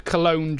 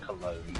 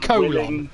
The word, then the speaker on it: Cologne: Joe, considering most people in the world haven't heard of Cologne, Germany, I'm willing to give him There's a more G, slack. how did he pronounce it, colon?